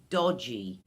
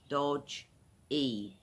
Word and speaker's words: dodgy: All right guys the first slang word i'll share with you is "dodgy" it's dodgy two syllables "doj·ee" dodgy what dodgy means it